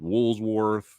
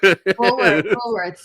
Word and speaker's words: Woolworths: Woolsworth. Yeah, I'm that old. Yeah. I'm mentioning no one knows what Woolsworth is. Woolworths, yeah.